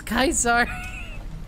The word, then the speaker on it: Caesar: And the fact that you read it as Kaisar is fucking hilarious. And I just, oh boy. That's so funny. They all do that? It's technically correct. What? That's how it's pronounced in Latin.